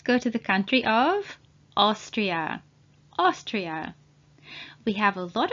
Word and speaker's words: Austria: with autism please note a and u together at the beginning of the word are pronounced as o and thank you again